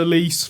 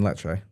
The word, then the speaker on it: Lecce: Shout out to Elise for getting a draw against Juventus. Yay! You mean Lecce? Is that how you pronounce it?